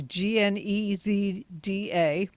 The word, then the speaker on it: Gnezda: The next one of these shows will be Sunday, June 1st, and it will be Eric Gnezda, and I think I probably just butchered his name, but it's Gnezda, so that ought to right a few wrongs there.